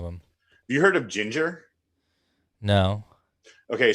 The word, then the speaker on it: Jinjer: Have you heard of Ginger? No. Okay, so Ginger, it's spelled Jinjer.